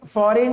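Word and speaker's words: foreign: गायब डिज़ाइन ठीक है फॉरेन में जी गायब फॉरेन ठीक है जी को पढ़ना ही नहीं है।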